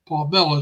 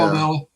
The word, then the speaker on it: Palmella: Palmella is the way Elvie pronounces that name. I got to try to remember to pronounce it correctly. All right, Yeah. Palmella.